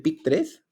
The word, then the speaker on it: PI3K: La vía, yo le digo la vía del PIC3, aunque se escribe Pi3K, pero PIC3X, y el RAS.